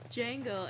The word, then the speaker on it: Django: this post I was like how do you pronounce Django and like it was a comic and someone